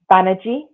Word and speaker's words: Banaji: Blind Spot, Hidden Biases of Good People by Mazarin, which is spelled Mahzarin, Banerjee, which is spelled Banaji, and Anthony G.